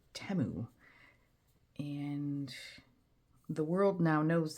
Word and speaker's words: Temu: Apparently, we've been saying it wrong, and it is not Temu, it's Temu.